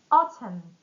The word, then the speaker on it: autumn: Now autumn.